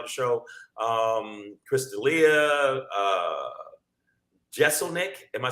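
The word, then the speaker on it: Jeselnik: gonna be on the show um crystalia uh jeselnick am I saying it right yeah Anthony's gently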